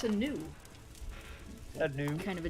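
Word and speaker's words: nue: It's a new. It's a what? It's a new.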